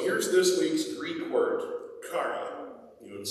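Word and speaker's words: χαρά: no different so here's this week's greek word kara you want to say that with me cara if you were to write it in english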